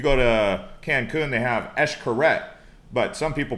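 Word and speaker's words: Xcaret: like if you go to cancun they have eshkaret but some people pronounce it x correct x-c-a-r-e-t but it's actually pronounced so uh mexico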